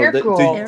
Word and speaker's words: Hercule: No, there's no H in it. It would be Hercule. Hercule? No, Hercule. the U is a Y sound.